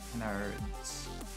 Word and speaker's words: Kennard: Luke Kennard's last name is pronounced with a hard R. Kennard's.